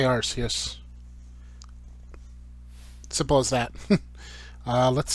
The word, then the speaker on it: Arceus: uh by the way i know it's technically pronounced arceus uh because the whole arse thing um but i say rcs simple as that uh let's see so i've